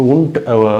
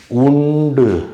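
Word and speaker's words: und: graph graph ஹுன்ட் fluke இப்ப உண்டு பாருங்களேன் இது இப்படித்தான் உச்சரிப்பாங்க உண்டு அப்படின்னு உச்சரிக்க மாட்டாங்க உண்ட் அந்த டீ அந்த கடைசில இந்த இது வரப்போ டீ மாதிரி உச்சரிப்பாங்க அதனால டாஷ் லாட் அது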